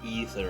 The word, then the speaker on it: Aether: Because let's be honest, the Aether is basically the live stream. And yeah, I know they say Ether, and I don't care. It's spelled Aether, goddammit.